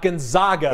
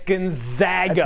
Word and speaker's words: Gonzaga: little lesson for everybody it's not gonzaga it's the zags it's gonzaga why do the zags are not yeah they are the zags gonzaga you gotta say it right if you don't want